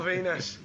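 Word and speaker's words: Venis: Porn star character, rhymes with penis. Oh, you fucking dirty bastard. Because when Val Venus was in his like peak, I was maybe 15, 16.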